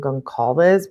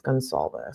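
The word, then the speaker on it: Goncalves: I think I've been calling him Gonalz because I had been hearing that, but it's Gonzalz.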